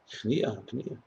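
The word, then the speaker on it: הכנעה: Akniya. Submission. Yeah, like achra, yeah. Yes, I said that. I was wondering how you pronounce it. Akniya or achniya? Akniya.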